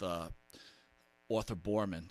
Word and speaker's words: Boorman: But, if people haven't seen it, I'm sure they all have, when you were on a Shark Tank with Arthur Boorman, I think I'm pronouncing that right?